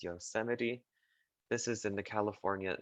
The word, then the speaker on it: Yosemite: and again it says it looks like it would be called yosemite but it's not it's yosemite this is in the